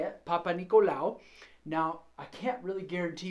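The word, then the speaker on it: Papanicolaou: That's how you say it, Papa Nicolau. Now, I can't really guarantee you that's how you spell it, but that's how you say it.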